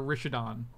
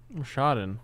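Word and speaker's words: Rishadan: Do you say Rashadon or Rishadon? Rashadon. Who says Rishadon?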